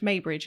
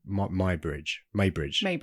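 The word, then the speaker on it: Muybridge: It's with a U, so I don't know how to pronounce. They said Maybridge in the film.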